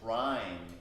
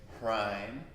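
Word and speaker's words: Hraim: Place your palms together at your heart center, and here the mantra is Hrim, H-R-A-I-M. You can just say it prime.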